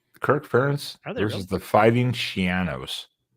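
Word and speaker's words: Schiano: Kirk parents versus the fighting Shianos. This rhymes with a piano because we've all been mispronouncing it for like over a decade, right?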